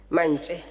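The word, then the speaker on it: Mance: It is always recorded as Manche, and it must be fixed in the papers. Manche, okay. Honorable Deputy Speaker, that's how my surname is pronounced, and that's how it's written, M-A-N-C-E, Manche. Thank you, Honorable Manche.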